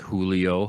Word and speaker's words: Julio: Like in Ola, but the J's are H's, are H sounds, English H sounds, like Julio, Jose, right? Those are spelled with J's.